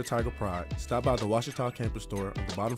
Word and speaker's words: Ouachita: University back in Texas everybody pronounces it Wichita but really it's Ouachita Washington how would you pronounce it it's Ouachita Baptist University get it right it's Ouachita people it's Ouachita